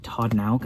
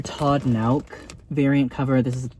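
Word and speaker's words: Todd Nauck: But this is like Todd Nauk, I believe is how you say his name.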